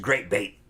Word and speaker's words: Great B8: And he does another one called Great B8, which is Great Bait.